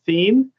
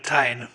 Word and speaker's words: Thien: welcome Commissioner, and I apologize if I say your name wrong, Thien, who will be joining our Joint Powers Board. Did I say that wrong, Commissioner? Well, that's fine. Tyne, but that's fine. Fine, okay.